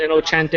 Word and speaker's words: Innocente: INNO. CENTE. You can pronounce it Inocente, Innocente, whatever.